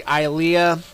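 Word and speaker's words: Ilia: age as link well her name is actually ilea you know i l i a and um i called her ellia by mistake but um i'm gonna pronounce it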